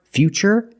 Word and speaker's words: future: It's ch because we see t u r e. We pronounce the t as ch. And we see t u r i in futuristic. Again the t is pronounced with the ch sound.